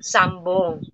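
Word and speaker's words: 三本: Ipong, sambong yun. Sambong, pero nabibigkas yun. M, sambong, kasi B yung kasunod, sambong. Diba? Ang bigkas, sambong.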